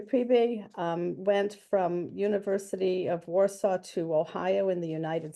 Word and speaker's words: Warsaw: He started out at the University of Warsaw, or that's how we pronounce it here, or Warszawa.